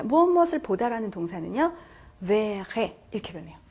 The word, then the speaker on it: verrai: 자, 그래서 발음이 자, 여기서는 je ferai 여기는 je verrai 이렇게 해주셔야 되는 거죠.